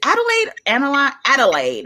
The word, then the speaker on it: Adelaide: Adelaide, it's Adelaide, right?